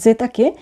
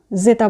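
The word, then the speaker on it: zeta: X epsilon জেতা English Z অর্থাৎ Italian বর্ণমালার জেতাকে খুব কেয়ারফুলি উচ্চারণ করতে হবে। আমরা দুই মাড়ির দাঁত একত্রিত করে উচ্চারণটি করব, সিম্পলি উচ্চারণ করব না, জেতা বলবো না, বলবো জেতা।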